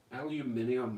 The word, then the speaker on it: aluminium: his channel okay aluminium aluminium is how we say it properly i don't know what